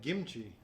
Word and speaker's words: kimchi: coming in absolutely and i've always called it kimchi but i'm saying it wrong no it's perfect because you guys say more like kimchi it's it's a mix it's a mix of the g and the k but i think you've